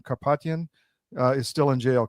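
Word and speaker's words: Karapetyan: Kapatian uh is still in jail. Correct. Carropetian is in still in jail.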